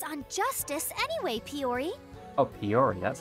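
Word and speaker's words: Piyori: Oh, Peori, that's how it's pronounced.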